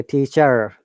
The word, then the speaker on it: teacher: According to the British IPA, we do not say teacher, teacher. R is silent because British English is non-rhotic. We do not pronounce R in most of the cases.